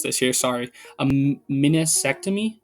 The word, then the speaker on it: meniscectomy: But if he got and I might mispronounce this here, sorry, a meniscectomy. So think like vasectomy, but meniscus at the start, right?